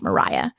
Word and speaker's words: Maria: to look her up her name is actually spelled like Maria but it's pronounced Mariah her story is not